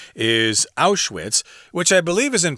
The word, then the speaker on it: Auschwitz: Out with the old and in with the new.